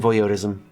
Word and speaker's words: voyeurism: It will be an act of kindness and voyeurism. How do I pronounce this?